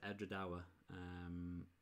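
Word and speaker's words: Edradour: And that's how you pronounce it, Edra Dawa.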